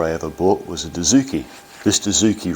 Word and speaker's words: Dozuki: Now, Dozuki is pronounced Dozuki.